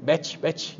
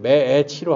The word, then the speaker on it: match: 자꾸 그 학생이 자꾸 매치 이러는 거예요. 그래갖고 그게 아니라 그 친구한테는 이 매치 발음할 때는 매애치로 하라고.